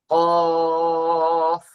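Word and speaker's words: قاف: আমি যেটা বলছি ছিলাম কফের উচ্চারণটা ক একটু এরকম আওয়াজ হবে ক আর কাফের উচ্চারণটা স্বাভাবিক কাফের উচ্চারণ করার সময় গলায় যাবে না এক ভাইয়ের কাফের উচ্চারণ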